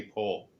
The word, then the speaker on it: Powell: How would you pronounce Oh, it? Anthony Pohl. It's Anthony Pohl. Exactly.